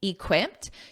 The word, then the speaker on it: equipped: functions as your adjective notice that pronunciation that e d is a soft T equipped equipped now when